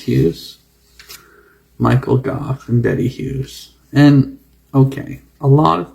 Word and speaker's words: Hughes: You're thinking that it could be anything like Muse, but it's Hughes. And Thomas is the son of Mary Gough and Thomas Hughes, Michael Gough and Betty Hughes.